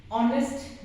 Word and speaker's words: honest: For example, we have an honest man. Now, actually it is starting with a non-vowel or a consonant. But what is the sound? This H is silent.